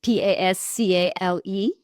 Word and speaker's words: Pascale: listening, So Pascal is Pascale. So a lot of people say, well, that's a man's name, but it's without an E when it's an E at the end. It's feminine. So it's Pascale.